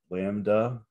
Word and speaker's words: lambda: And the wavelength we're going to symbolize with this Greek letter lambda is how we would pronounce it.